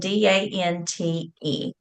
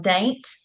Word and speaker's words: Dante: Also, we have a town called it's spelled Dante, and you have people who will call it Daint, and you have people who will call it Dant.